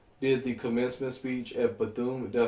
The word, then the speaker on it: Bethune: Like, So Betsy DeVos, she did the commencement speech at Bethune. Did I say it correctly? Yeah. Bethune College.